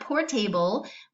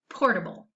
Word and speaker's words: portable: able to be carried it is pronounced not poor table this kind of gets that third sound or that schwa sound as we happen in this word it says portable okay and I like